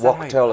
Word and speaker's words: Wachtel: Is Wachtel, it's pronounced.